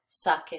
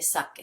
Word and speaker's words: saque: So we want to keep that hard sound with the Q-U.